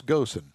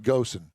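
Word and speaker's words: Ghosn: his hidey hole and his last name is spelled g-h-o-s-n i call it ghosan if i'm wrong i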